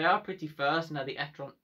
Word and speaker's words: e-tron: Yes, you do pronounce it e-tron.